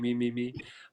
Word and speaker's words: meme: like writing it as Mimi better Mimi m me me um so what do you think you think